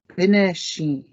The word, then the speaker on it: bineshi: Bineshi is for bird. Be, ne, she.